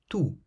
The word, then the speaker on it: tout: The following words, for instance, all end with letters that are completely silent. Délicieux. Délicieux means delicious. Parfait. Parfait means perfect. Toujours. Toujours means always. Tout.